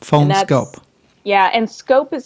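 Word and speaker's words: PhoneSkope: The phone scope case that I got, I can take off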